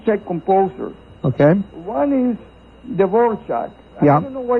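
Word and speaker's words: Dvořák: So yeah, well, apparently in Czech there's an accent mark or something that makes it called Dvorak. A mark on the R and a mark on the A. Yeah, and that's why it's pronounced the way it is.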